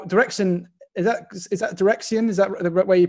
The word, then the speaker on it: Direxion: both directions now direction is that is that dreian is that the way you pronounce it correct yes yes um it's been